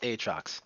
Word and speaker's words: Aatrox: Like, I feel like it's pronounced Aatrox. Like, there's two A's. So it's gotta be, like, extended.